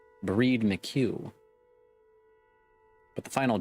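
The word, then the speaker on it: Bríd: if famish Irish saint it's pronounced with a long e similar to the English word breed I see so it's breed mq but the final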